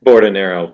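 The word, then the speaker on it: Bordonaro: He pronounces it broom. Broom. Okay, great. And what is your last name? Bordinero.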